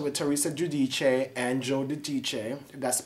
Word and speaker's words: Giudice: Yes, I just finished watching Watch What Happens Live with Anthony Cohen and his one-on-one special with Teresa Giudice and Joe Giudice. That's the pronunciation of their names.